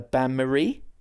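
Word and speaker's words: bain-marie: the named after a lady of biblical a banmarie. You got it. Yes. It's a merry bath. How do we spell that?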